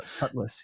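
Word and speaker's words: Cudlitz: what do you think of is it Michael cutlet is that how you say his name cudas yes Michael yeah how did you feel about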